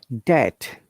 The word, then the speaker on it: debt: subtle uh remember guys if there is b and t together uh b is always silent these are some examples